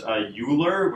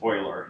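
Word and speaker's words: Euler: this word here is not pronounced uler which is what it looks like it's actually pronounced oer who is a German mathematician um and so uh Oiler method is the simplest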